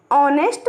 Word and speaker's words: honest: We also say an honest man, an hour, because honest and hour begin with an o vowel sound because the beginning h is silent.